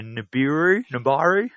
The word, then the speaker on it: Nibiru: Now, forgive me if I get the pronunciation of this title wrong, but it's the Nibiru? How do you say it? Nibiru. Nibiru.